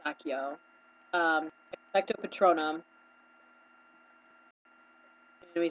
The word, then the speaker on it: Accio: Accio was Ashio. Uh, yeah. We said Ashio, and it's Accio.